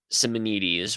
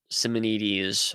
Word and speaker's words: Simonides: That Simonides, which is how James White pronounces it. I guess it's the modern Greek pronunciation, sort of the modern Greek American pronunciation.